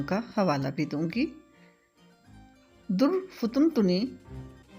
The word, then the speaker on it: درفطنی: حوالہ بھی دوں گی۔ در فتن تنی، اس کا تلفظ ہے دال، فے اور توئے پر پیش ہے، جیسا کہ میں ادا کر رہی ہوں۔ در فتن تنی، اس